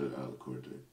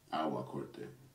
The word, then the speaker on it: Awa Corte: Because I'm really close to Alacorte. Awa Corte. Awa. A W A. Awa. We're finally learning how to pronounce Awa Corte.